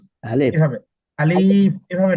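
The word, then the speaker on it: ألف: এগুলো ঠোঁটের সাথে লাগবে আর কি আলিফ যখন উচ্চারণ করবেন শেষ করবেন আলিফ আলিফ আলিফ আলিফ এভাবে আলিফ এভাবে ভাবে না আলিফ এটা লম্বা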